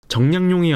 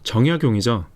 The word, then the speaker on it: 정약용: 이거 어떻게 읽으세요? 정량용이 아니라 정약용이죠.